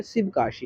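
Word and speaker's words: Sivakasi: यहाँ पर शिवाक्षी नहीं है, शिवकाशी है।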